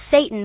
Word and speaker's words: seitan: And yes, it's pronounced Satan for a reason.